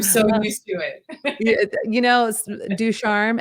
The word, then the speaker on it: Ducharme: Ducharme, everyone gets it wrong. And in Nashville, my favorite mispronounces is they said Ducharon.